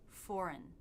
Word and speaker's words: foreign: Foreign. This second syllable should be as fast as you can make it since it's Okay, foreign.